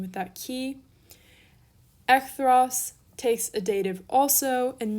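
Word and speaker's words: ἐχθρός: to our next adjective echthros or ekthros again depending on your pronunciation with that key ekthros takes a dative also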